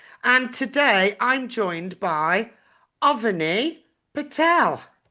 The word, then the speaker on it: Avani Patel: And today I'm joined by Avani Patel. Correct pronunciation?